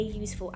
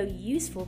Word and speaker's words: useful: For example, you say a dog and a useful idea because of the sounds duh and yuh. Even though useful begins with the letter U, it's pronounced with the consonant y sound, which requires the article a.